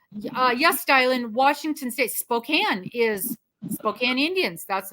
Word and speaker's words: Spokane: and they go and your address is in Spokane I said no it is Spokan and you do well